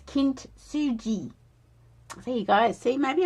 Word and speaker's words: kintsugi: is pretty much almost the pronunciation is is a soft G. So it's kint suji.